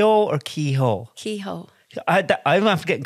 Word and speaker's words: Kehoe: received um Parcels with Keyhole Keyhole separate cuz I say my name kho and they'll actually send